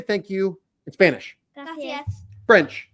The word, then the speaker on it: Gracias: Gracias.